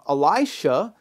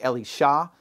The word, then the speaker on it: Elisha: It's the story of Elisha, or Elisha. You'll hear it pronounced all different kinds of ways. I tend to alternate. The Hebrew is actually Elisha, with the accent on the end, but nobody says it that way. So I'll just say Elisha.